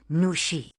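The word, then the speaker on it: 女士: Your hello was perfect, but remember, the last syllable of miss has a falling tone.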